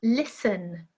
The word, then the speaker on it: listen: with a silent B number uh seven listen listen silent T we don't say listen it's a silent T number eight our hour